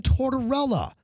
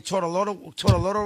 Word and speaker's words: Tortorella: Mad Dog Chris Russo, trying to pronounce the name of John Tortorella. Look, not that hard. John Tortorella, longtime hockey coach. Take a listen. 04 CAC, we played Tampa down in when our good buddy Tortolotto won Torts, and it was $6.29 million.